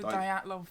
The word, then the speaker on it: Dyatlov: How would you pronounce that? The Dyatlov Pass incident.